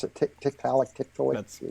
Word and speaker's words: Tiktaalik: about the kept Alec is that how you pronounce it Tiktaalik tit for tat see how I do it I never know how to pronounce it but Tiktaalik okay so you know this is supposed to